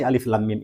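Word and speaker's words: الم: perlu kita ingat bahwa huruf muqadha'ah seperti Alif Lam Mim ini cara membacanya adalah seperti cara kita mengucapkan nama hurufnya yaitu Alif kemudian demikian pada lafaz Allah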